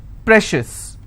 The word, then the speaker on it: precious: Precious. How many syllables again? Precious. I will stress on pre.